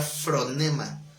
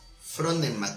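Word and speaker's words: φρόνημα: la palabra ocuparse es la palabra fronema fronnema con acento en la o Esa esa palabra también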